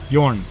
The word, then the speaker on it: Jorn: There we go, I Jorn. nailed it. But that's why I say just Jorn or Jorn. Or, Okay. Yeah. Well, I'm going to try and pronounce it correctly throughout this podcast. Jorn. And I like rolling my R's as well.